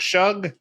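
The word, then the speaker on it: Shough: The Saints could be good Tyler Shuck Shug. What's how do you pronounce it?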